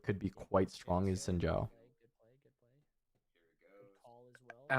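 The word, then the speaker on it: Xin Zhao: I feel like could be quite strong is Sinjao. I like that you actually pronounced it correctly.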